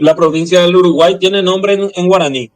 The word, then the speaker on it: Uruguay: y la provincia del Uruguay tiene nombre en guaraní solo que en guaraní la y se pronuncia como una vocal extra eh sería urugua que significa agua del